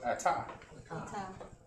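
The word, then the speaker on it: אתה: Ta, right? So ata. Ata means you.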